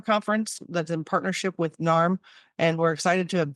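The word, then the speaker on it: NAMH: can look them up it's narm is how they pronounce it n a MH we'll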